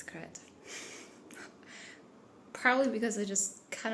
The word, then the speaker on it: Crete: Today is Saturday and I already wanted to say that yesterday that I found out yesterday that I pronounced Crete the wrong way. For some reason I thought it's Crete.